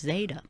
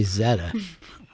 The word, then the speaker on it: zeta: that's never happened before i thought that was pronounced zeta it is who would say zetta what is that in